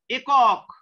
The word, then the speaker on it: একক: দেখো যেমন একক, ছেলেরা উচ্চারণ হবে কি একক, এ দেশ দেশ দে, একারটা এ উচ্চারিত হচ্ছে কারেক্ট উচ্চারণ স্বাভাবিক উচ্চারণ।